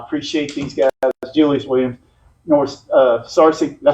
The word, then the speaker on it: Searcy: Searcy, did I say it right? Searcy.